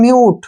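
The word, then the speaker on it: mute: एम यू टी ई यहां पर फिर से यू के बाद कंसोनेंट आया है और कंसोनेंट को छोड़कर फिर से ई आया है तो इसको पढ़ेंगे हम म्यूट क्या पढ़ेंगे म्यूट एम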